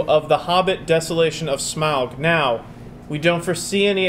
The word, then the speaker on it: Smaug: Smaug. That's how they say it in the movie.